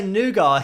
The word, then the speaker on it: nougat: or nugget we say nougat here in the uk i don't know why we don't pronounce the t on the end but that's just what